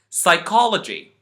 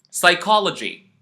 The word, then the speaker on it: psychology: then play the video I am going to pronounce them for you psychology pseudo P psoriasis once more psychology pseudo P psoriasis you can notice that in